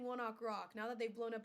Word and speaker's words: ONE OK ROCK: It's spelled one OK rock, Okay. but I saw an interview a long time ago of them saying it's one ok rock because they used to practice at 1 o'clock, and in Japan they